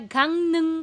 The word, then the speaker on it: 강릉: Bakit letter Nya pero real ang consonant? Again, nasalization rules, reading rules ng Korean na hindi tinuturo sa libro. Kaya gang nung po siya because real kasama ng iyang nagiging letter N siya. Gangnung.